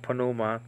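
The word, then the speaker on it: pneuma: saw um that uh panuma some people pronounce it Numa but it's better pronounced panuma um and I think we get that from English habit yeah you know um not pronouncing the P like ins like in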